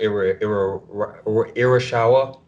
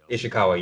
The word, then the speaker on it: Ishikawa: action samurai, I would be I can't Lord Irishawa. Is that it? Is that am I pronouncing his name right? which Pronouncing guy? the bow master. Oh, That would Sensei Ishikawa. Ishikawa.